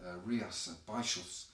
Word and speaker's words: Rías Baixas: And then we have an Albariño from Rías Baixas, as I'm told to pronounce it, from northwestern Spain up towards the Atlantic coast.